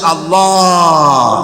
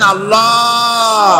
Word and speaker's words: আল্লাহ: না কেউ বলে না আল্লাহ আল্লাহ পাকের উচ্চারণটা হচ্ছে আল্লাহ পাকের নাম হচ্ছে আল্লাহ মুখটা একটু গোল হয়ে যাবে বলেন আল্লাহ আল্লাহ আল্লাহ সুবহানাল্লাহ।